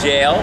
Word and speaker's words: Gaol: We're here at Kilmainham Jail, which is spelled G-A-O-L.